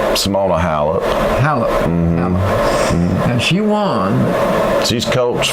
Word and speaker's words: Halep: How do you pronounce her name? Simona Halep. Halep.